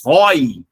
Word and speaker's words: rói: ele já é o padrão normal da nossa pronúncia. Porém, céu, o é aberto. Esse cara merece um acento gráfico. O rato rói.